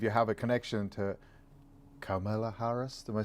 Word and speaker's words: Kamala: And I believe you have a connection to Kamala Harris. Am I saying that right? Well, I had to go look it up. So apparently it's comma, like the punctuation mark, and la, Kamala.